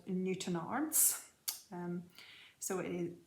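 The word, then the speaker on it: Newtownards: in a little town in northern ireland called newton arts so it is newton arms is the pronunciation but it's spelled new town arts we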